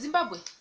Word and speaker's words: Zimbabwe: you're saying the word like zimbabwe just said zimbabwe zimbabwe zimbabwe zimbabwe zimbabwe zimbabwe uh for example